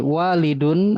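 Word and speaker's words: وَالِدٌ: Jadi panjang pendek dan harakat itu menentukan arti walidun artinya ayah. Waladun itu anak.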